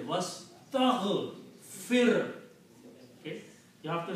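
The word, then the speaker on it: وَاسْتَغْفِرْ: Wastaghfir. The last letter has a sukoon on it. Even though who is after that, but you have to pronounce this clearly.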